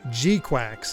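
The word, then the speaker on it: GQuuuuuuX: Gquax is how they pronounce the that one.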